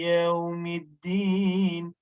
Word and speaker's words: Yawmiddin: Okay, Maliki yawmiddin, but the Maliki yaw, no, don't press on it because this is madlin.